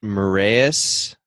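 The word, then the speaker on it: Marais: I am in Grand, I believe it's pronounced Marias, Minnesota, which is right on Lake Superior.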